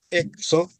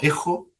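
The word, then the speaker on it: ἔχω: De ahí viene urega encuentro ao exo. Tengo poseo pronunciaste esa exo. Exo. Sí. No, ejo. Ejo. Sí, de verdad que nosotros la usamos como como J.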